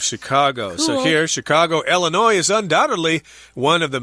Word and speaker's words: Illinois: So that's the state where it is, Illinois. The S is not pronounced there because it's a French word.